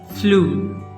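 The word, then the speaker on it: flew: it like like f l e w that's flu some people pronounce it as flu that is wrong because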